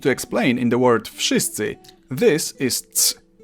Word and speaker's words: wszyscy: dreams and can be whatever the hell they want, in Polish you simply pronounce each sound one after another and you get the word. Wszyscy. W, sz, sy, cy, Wszyscy.